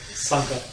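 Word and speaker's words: Sanga: Yep, and Sanger, or Sanka, as they pronounce on the show.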